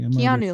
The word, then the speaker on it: Keanu: Keanu. Keanu. See, Keanu, like Keanu Reeves.